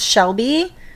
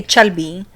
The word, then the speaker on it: Shelby: white name yeah so they can't pronounce Shelby they say chelby or chel because they don't know